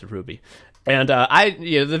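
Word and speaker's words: RWBY: about little girls um wait is that how you say it I've been saying the letters in my internal monologue when I read it yeah I didn't know I thought it was riwe uh myself but he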